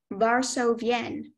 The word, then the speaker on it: Varsovienne: Are there any alternate pronunciations? No, just Varsovienne.